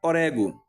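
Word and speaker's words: ὀρέγω: O verbo grego traduzido para aspirar, almejar ou desejar é pronunciando o no presente do indicativo na terceira pessoa, orégo.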